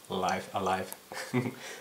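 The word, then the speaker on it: Live A Live: on the katakana of writing i believe it's pronounced live alive so i was completely mispronouncing the game but anyway so life alive it's um originally was made for super famicom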